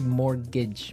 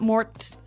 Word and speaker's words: mortgage: with a t yeah it has a t in it but you don't pronounce it you say morgage morgage so not Mort mortgage not morgage morgage